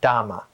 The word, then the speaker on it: Dhamma: The Magadhi accent of North India called it Dharma, whereas the southern pronunciation down from Sri Lanka, they called it Dhamma.